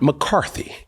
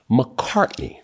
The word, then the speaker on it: McCartney: Not McCarthy. McCartney.